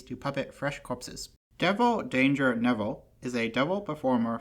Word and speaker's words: Kdanger: Devil Danger Neville is a devil performer from the universe who appeared in the 2022 set infinity. The K in danger is silent.